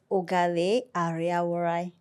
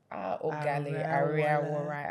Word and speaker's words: Oghale Ariawhorai: Tell us how to pronounce that name properly. So it's Oghale Ariawhorai. Oghale Ariawhorai.